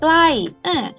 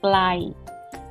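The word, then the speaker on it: ใกล้: Glai, glai, glai with falling tone means close.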